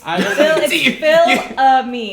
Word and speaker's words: Fils-Aimé: Oh, is that how you pronounce it? Apparently. It's Fil-Aimé. That's how it is. Fil-Aimé. That's what it is. So I interviewed Reggie Fils-Aimé, and he was the CEO and president of Nintendo NOA.